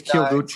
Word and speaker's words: Kyoguchi: Yeah, you say it real quick, the Kyo. I think it's Kyoguchi. The same character, the city Kyoto? Right. There's a city called Kyoto.